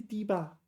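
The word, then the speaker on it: 堤坝: No, I got the tone right. It is 低吧. 低吧 is correct. D first tone.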